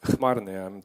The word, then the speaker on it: Chmarny: It's actually pronounced Chmarny, I'm told too, so I'm learning very quickly.